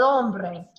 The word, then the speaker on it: hombre: El hombre. El hombre. Right, the H is always silent.